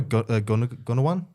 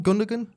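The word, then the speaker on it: Gündoğan: probably Gunnawan. How do you pronounce the name? Gunnawan? Gundogan?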